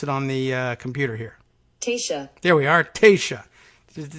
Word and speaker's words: Taoiseach: out loud and Taoiseach is that right let's pronounce it on the computer here tisha there we are Taoiseach it doesn't help anything